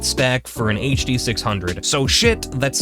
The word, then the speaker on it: Schiit: So shit, that's spelled SCHIIT, is a company that manufactures external DACs and amplifiers for speakers and headphones.